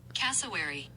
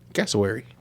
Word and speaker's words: cassowary: About the pronunciation. Here we go. Cassowary. Cassowary.